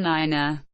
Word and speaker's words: Niner: The pronunciation of the digits 3, 4, 5, and 9 differs from Standard English, being pronounced tree, fower, five, and niner. The digit 3 is specified